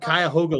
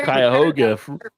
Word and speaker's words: Cuyahoga: On to But then- Cradle- But then they all live in a place called Cuyahoga Lake, or they Yes, say Cuyahoga Lake.